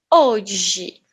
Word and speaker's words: hoje: "Hoje" ("Today").